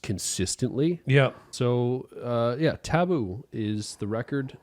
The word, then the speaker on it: TA13OO: a really cool record so this is taboo uh by Denzel Curry it's yes and it's it's spelled different he has the cool